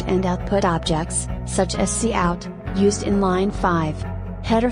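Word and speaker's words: cout: brackets will be executed c out pronounced c out is an object used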